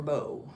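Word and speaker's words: Beau: When black folk just added another O to the mother, but it's B E A U for Bo.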